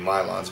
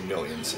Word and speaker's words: Milon: I think it's supposed to be Milons, but I say Millions, even though that's not right, but whatever.